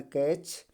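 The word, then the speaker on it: catch: उसी प्रकार कैच, ठीक है, ये क्या है, टी साइलेंट है, तो क्या पढ़ा जाएगा, कैच, कैच, कैच, कैच, ठीक है, कैच पढ़ा जाएगा।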